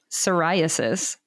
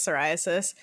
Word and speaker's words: psoriasis: if your name was psoriasis and trying to tell them that the p is silent like like trying to